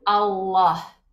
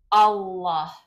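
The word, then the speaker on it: الله: Si queremos decir no es Alá, también vamos a decir no es allá tampoco, es Allah. ¿Okay? Esto es, ¿ok? ¿Cómo se pronuncia? Allah, Allah.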